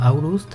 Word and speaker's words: Aurust: Seguramente el castillo se escribe Olst, pero se pronuncia Aurust, ya que estamos leyendo